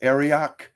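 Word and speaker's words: Arioch: his man i think his name is pronounced aryak a-r-i-o-c-h uh he sends his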